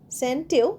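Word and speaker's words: scent: এস সিই এনটি সেন্ সেন্টেও সি উচ্চারণ হচ্ছে না। শুধু এসই এনটির মত উচ্চারণটা হবে।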